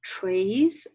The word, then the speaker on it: traits: They are features or traits, or traits is the correct pronunciation of that word because it has French origin, that distinguish the two